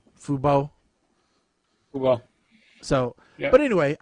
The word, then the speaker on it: fubo: i don't know exactly how you pronounce fubo or if it's fubu or whatever it's fubo fubo well so yeah but